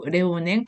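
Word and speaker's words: Léonin: 바로 작곡가겸 수도사 있죠 그래서 레오냉 페로탱 프랑스식 발음으로 레오냉 페로탱이에요 그리고 이 노담 성을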